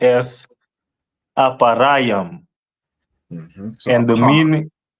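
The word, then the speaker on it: אפרים: And in Hebrew it is pronounced as aparam. Mhm. And the meaning aparam which means I am doubly fruitful.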